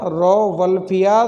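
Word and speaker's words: Rauwolfia: कई इसको ऐसे बोलते हैं रावोल्फिया, इसको रा बोल रहे हैं, इसको वो बोल रहे हैं, लेकिन वास्तविक सही उच्चारण ये है इसका रोवल्फिया, RAU, ये तो हो गया रो।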